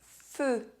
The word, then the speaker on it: feu: Un euphémisme A euphemism EU is pronounced [ø] if at the end of a word Le feu The fire Bleu Blue